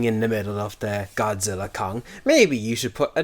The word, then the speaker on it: Godzilla x Kong: Apparently you're not supposed to say the X there.